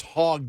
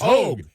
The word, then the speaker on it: Hogg: Yeah, no, it's Hogue. Quit saying not Hogg. It's Hogue.